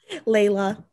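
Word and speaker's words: Lejla: Okay, how do I say it pronounced? L-E-J-L-A? Layla.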